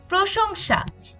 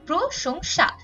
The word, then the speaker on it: প্রশংসা: করতে হবে আসল এরপর প্রশংসা এখানে প্রথম স টা হচ্ছে তালব্য স পরের স টা কিন্তু দন্তস কিন্তু কিন্তু দুটোর উচ্চারণই আমাদের একই রকম হচ্ছে প্রশংসা এজন্য আমাদের দুটোতেই তালব্য